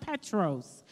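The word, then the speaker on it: Πέτρος: Peter's name in the original Greek language is pronounced Petros, which means rock.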